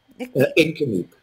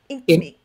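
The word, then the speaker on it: Inkameep: Nickmeep? Incameep. Incameep. Incameep. Incameep. Okay.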